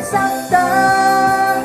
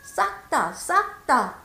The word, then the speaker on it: 싹다: 싹다! 쌍시옷이 나오잖아요. 정확하게 발음하세요. 싹다!